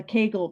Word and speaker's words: Kegel: i was on school the kegel rhymes with bagel it was the kegel